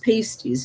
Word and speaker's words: pasties: supper we usually had pasties pronounced pasties not to be confused with any apparel a pasty is basically